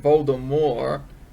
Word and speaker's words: Voldemort: at the end that's how you're going to pronounce it voldemort but um they're like oh okay you got um these people might not know how to pronounce it because it's a french word so they added the t at the end well mind blown am